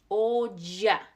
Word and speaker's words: olla: When you see those, when you see two L's or double L, we pronounce that as a J sound. So, ya. Olla.